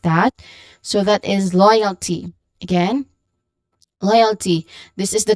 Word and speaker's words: loyalty: So that's loy, oi. Oi is the diphthong, and it is part of the first syllable, loyalty. Loy. So loyalty, we have a short, quick unstressed vowel sound here, and then just say the last syllable exactly how it looks like.